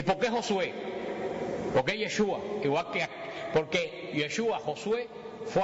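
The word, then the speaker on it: ישוע: hebreo no se pronuncia Jesús en hebreo se pronuncia yeshua yeshua Y ustedes saben Cuál es en español el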